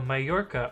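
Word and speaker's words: Mallorca: worth a try uh the ll is pronounced like a y i think it's oh my yorka okay so it's like spanish i see or oh my this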